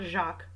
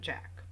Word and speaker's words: Jack: called Jack Renauld and it is spelled Jack not Jacques so I'm saying Jack what the next development